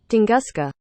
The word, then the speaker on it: Tunguska: Tungska, I think that's how you pronounce it. If not, this is how you pronounce it. Tunguska.